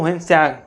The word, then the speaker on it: ह्वेनसांग: उसमें उच्चारण में वही आता है क्योंकि उच्चारण क्या है? आप जैसे अभी आप इंडिया में ही ले लीजिए या दक्षिण भारत में चले जाइए। वहां पे वहां के व्यक्तियों का नाम लेने में थोड़ा आपको उच्चारण करने में थोड़ी कठिनाई होगी। इसलिए हमको हम लोगों को कठिनाई होती है इसको उच्चारण में नाम में। लेकिन क्या है? इसको ह्वेनसांग ह्वेनसांग कहते हैं।